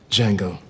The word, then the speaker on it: Django: Django. Oh. The D is silent.